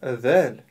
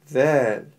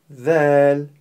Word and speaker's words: ذ: произносить эту букву ль произнося букву ль мы должны обратить внимание на три важных момента первое буква ль мягкая буква Поэтому нужно произносить её мягко не стоит произносить её твёрдо л мы её произносим мягко ль второй момент буква ль звонкая послушайте ль ль и в-третьих буква ль - межзубная буква и для правильного произнесения нужно поставить кончик языка между передних зубов ль Если же мы не